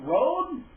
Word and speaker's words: Rhode: name r h o d e is that pronounced Road and the last name is spelled RH AJ